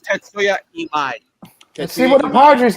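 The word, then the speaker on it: Tatsuya Imai: His name is pronounced Tetsuya Imai.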